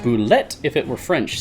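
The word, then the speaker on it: bulette: I always say boulette. I think the correct way to say it is boulet, but I really prefer boulette.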